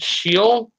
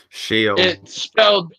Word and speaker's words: Sheol: It might be pronounced Sheol. Sheol. It's spelled in my Bible. It's spelled SHEOL.